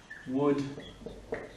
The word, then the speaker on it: would: Quelqu'un qui dit oui, I would like something. Donc oui, je voudrais quelque chose. Je voudrais quelque chose à manger. Donc would you like, le L ne se prononce pas, you, pas you, c'est you, le son U.